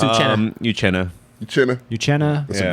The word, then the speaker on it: Uchenna: How do you say Uchenna. I can't say it, but I love it. It's Uchenna.